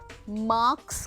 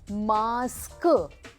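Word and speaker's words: mask: मार्क्स नहीं होता, वो होता है जो हमें एग्ज़ाम के बाद मिलते हैं मार्क्स, लेकिन ये जो हम पहनते हैं इसको कहते हैं मास्क। क स नहीं, मास्क।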